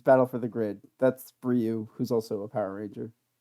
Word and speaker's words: Ryu: it's right oh god it's time to leave rio is how it's pronounced actually yeah that's yeah his name is